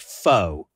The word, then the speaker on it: pho: Because a lot of people call it pho. It's not pho. In fact, I'm also full disclosure, not a Vietnamese expert, guys. Yeah. But there is an upswing pho. Pho. It's almost like a question mark.